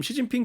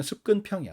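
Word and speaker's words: 習近平: 렇게 읽었었고 어 그래서 지금 시진핑 주석 같은 경우에도 지금 우리는 이제 중국식으로 중국 발음 그대로 읽어 주니까 시진핑 주석 국가주석 시진핑 국가주석 이렇게 이야기를 하지만 한국 로 읽으면 습근평이야 습근평 그래서 지금은 이제 습근평이라고 부르는 사람이 아무도 없죠 뭐 하여튼 뭐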